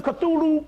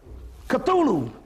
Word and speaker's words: Cthulhu: to the cthulhu cult cthulhu k-t-h-u-l-h-u c-t yeah i'm sorry that's they pronounce it k on something is c-t-h-u-l-h-u cthulhu by fred l